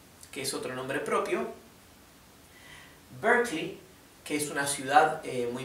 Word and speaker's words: Berkeley: Así que no es Berkeley, es Berkeley, ¿sí? Recuerden, en todos estos casos la E no se pronuncia, es muda.